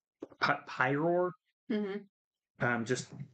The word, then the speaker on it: Pyroar: cut pyroar um just that's why I commonly mispronounce it prior is because prior um p-r-y-o-r I know it's pyroar because pyro it's a fire type Pokemon and then the roar because it's supposed to be lion base design so but yeah that's